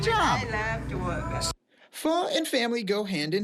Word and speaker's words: pho: How is it pronounced? Pho. It's pronounced pho. Yeah. Okay. Pho.